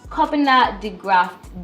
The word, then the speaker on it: Kobina DeGraft: a cinematographer a producer editor director by name Copa Deft I hope I pronounced your name right you definitely got the